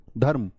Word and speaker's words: धर्म: धर्म, ऐसे नहीं धर्म बोल दो, धर्म नहीं, धर्म।